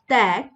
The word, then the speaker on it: ত্যাগ: এরপর দেখো যে জফলা যুক্ত ব্যঞ্জনের সঙ্গে আকার বা আ ধ্বনির উচ্চারণ প্রায় ক্ষেত্রে কি হয়? অ্যা হয়। যেমন দেখো যে এখানে যেহেতু জফলা যুক্ত আছে এবং আকারও আছে, তো উচ্চারণ কিন্তু খ্যাতি, ব্যাপার, ত্যাগ এবং ব্যাকরণ।